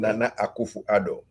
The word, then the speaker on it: Nana Akufo-Addo: Because I never pronounce it correctly. Nana Akufo-Addo.